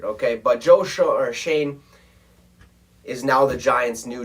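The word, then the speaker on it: Schoen: bills congratulations to joe shane even though it's spelt completely different than it would sound okay shane and uh this name is like s-c-h-o-n-e i mean it it just looks kind of weird okay but josh or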